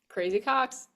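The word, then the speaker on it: Crazy Coqs: The crazy, how do I pronounce that? Crazy Cox.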